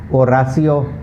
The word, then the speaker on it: Horacio: no sound okay so never pronounce the h in the spanish language okay i'll give you